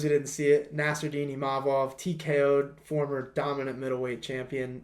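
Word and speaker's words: Imavov: this to Paul Felder it's imov not imov none of that imav so I got to get that one right but um yeah for those who didn't see it nardini imov TKO former dominant middleweight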